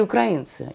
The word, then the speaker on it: украинцы: Украинцы или украинцы? Я украинка. Так я украинка или украинка? Правильно наполовину, говорить 50%. Украинцы. Правильно говорить украинцы.